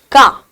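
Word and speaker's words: car: You need to understand that it is whenever R is coming as the final sound, you will not pronounce it. So therefore, you might have seen the native speakers to be saying it as ka, right? Run, correct, and it's a ka. When we say ka, they are not pronouncing r at the end of it, right?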